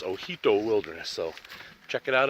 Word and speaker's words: Ojito: hike, check out the Hoodoo Wilderness. And in case you're wondering how to spell that, it's actually O-J-I-T-O. So it looks like Ojito, but the J is pronounced like an H, so it's Hoodoo Wilderness.